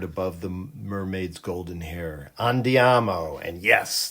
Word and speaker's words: andiamo: Andiamo. And yes, that is the correct Italian pronunciation.